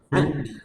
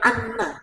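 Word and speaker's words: عني: Saya ulang, Allahumma innaka afuun tuhibbul afwa fa'fu anni. Itu bacanya, bukan anna. Udah. Kalau ada fa'fu anna, itu namanya merubah dalil.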